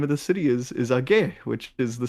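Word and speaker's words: Aigai: Age, I think I used to pronounce it Igai, but the Greeks corrected me. It's Age, which it's a funny name because it's onomatopoeic.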